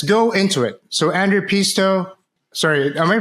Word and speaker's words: Peetso: So, Andrew Pisto, sorry, am I pronouncing your name right? I mean, yeah, it's a difficult one. So, in Estonian, you pronounce it p, but in English like pizza is fine.